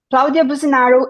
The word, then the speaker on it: Claudia Businaro: friend Jamie Caro and I, with our guest, Claudia Businaro. And we are very excited to have Claudia in the podcast. And I'm going to introduce Claudia for us, for who don't know her. Claudia Businaro is a UKCP accredited psychotherapist.